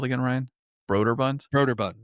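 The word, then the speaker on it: Brøderbund: Broderbund? Broderbund. Broderbund.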